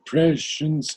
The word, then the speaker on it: prescience: Only the pronunciation is prescience or prescience. Most probably both are possible, yes. Because But if you say the prescience, it's 2 beats. And prescience is 1.